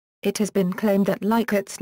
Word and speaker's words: Likert: Rensis Likert, the developer of the scale, pronounced his name Likert with a short I sound. It has been claimed that Likert's name is among the